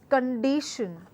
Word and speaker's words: condition: this new word again condition has three syllable again and the word that I am supposed to stress part of the word is di so it is condition the next one of